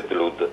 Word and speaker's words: Blood: O, vero? Perché ha due O. Sì. E allora si legge Blood, va bene.